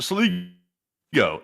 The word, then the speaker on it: Sligo: They said, just to clarify, it is pronounced Sligo is the sauce, and a big thumbs up.